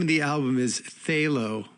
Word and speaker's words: Phthalo: And the name of the album is Phthalo, which is spelled T A P H T H A L O. You figure that one out.